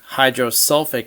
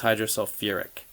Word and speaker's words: hydrosulfuric: is called sulfide but instead of saying hydrosulfic acid you have to have an extra syllable so sulfur has acids with sulfur have a ur and acids with phosphorus have an or extra syllable so again sulfide would go to hydrosulfic but it's hydrosulfuric instead this is sulfate you